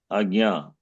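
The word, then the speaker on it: आज्ञा: We say ajna. Agnya. Ajna or some Ramdev Baba says ajna. Ajna. Jakara. Jakara plus Nyakara, but Jakara, Yakara. but together, like we say, Jnanam, Ajna. Ajna, you cannot say, Ajna.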